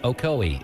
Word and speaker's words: Ocoee: I'm from Cleveland, Tennessee, and it's pronounced Ocoee, Etowah, and Hiwassee.